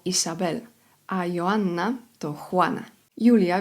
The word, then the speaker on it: Julia: Julia w języku hiszpańskim zapisuje się tak samo, ale wymawia się inaczej.